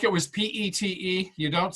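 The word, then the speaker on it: Piet: nitpicker but I just want to correct the pronunciation of Mondrian's first name is Pete okay like it was PE te you don't say the P it it's Pete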